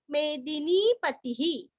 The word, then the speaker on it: मेदिनीपति: कपिलाचार्य कृतज्ञो, कृति का कृ, त के ऊपर आघात और ज्ञो, कृतज्ञो मेदिनीपति ही, मेदिनी का दीरस्व नी दीर्घ, पति का तीरस्व और विसर्ग का भी रस्व ही, मेदिनीपति ही, मेदिनीपति ही।